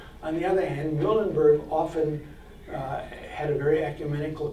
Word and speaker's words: Muhlenberg: And Muhlenberg might be a good way to pronounce it also, but typically in English we said Muhlenberg, and as I said earlier, the German would be Muhlenberg.